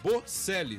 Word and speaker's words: Bocelli: Bocelli, tá? Como se falasse com C.